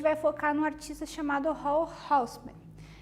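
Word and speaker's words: Raoul Hausmann: O tema da aula de hoje é a colagem tridimensional novamente, e a gente vai focar num artista chamado Hall Houseman, pronúncia alemã, né?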